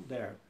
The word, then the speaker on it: Darby: Escreve, a gente pronuncia Derby, mas ele escreve D-A, né? R-B-Y. John Darby.